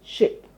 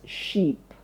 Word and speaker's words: ship: While ship has a short I sound telling you that that word has to be pronounced quickly with a short sound I. So you say ship.